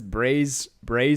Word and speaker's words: Breizh: That's Braze Cola. So for anyone listening to the audio only, it's BREIZH Cola.